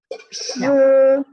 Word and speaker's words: 吃: 吃 Ya, se he she ya lidahnya diangkat. Bunyinya A O ya, E-nya bunyinya.